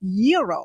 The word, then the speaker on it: gyro: gyos I order the gyro Supreme suddenly the lady behind me chimes in it's pronounced Euro then the fow behind her says it's a gyro I turn my back